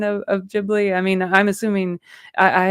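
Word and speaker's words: Ghibli: correct pronunciation of of jibli I mean I'm assuming I I had always heard it it was jibli you know like like with the J I guess even though it's GH but uh it's like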